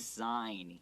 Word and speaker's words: sign: All right, so sign, this verb, even though it has a G, the G is silent, okay? So it's not sign here, it's sign here. So just sign here, 请在这